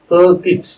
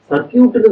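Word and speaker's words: circuit: சர்க்கியூட்னு தானே சொல்லுவாங்க. சர்க்கியூட் கிடையாது. அத ஆங்கிலத்துல சர்க்கிட் அப்படின்னு தான் உச்சரிக்கணும். ஆங்கிலத்துல இருக்கக்கூடிய எழுத்துக்களை வைத்து அப்படியே உச்சரிக்க கூடாது. English is அன் அன்பனட்டிக் language. அது சர்க்கிட் என்று தான் உச்சரிக்கணும்.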